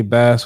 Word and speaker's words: Bass: Say it right because you said bass like the fish.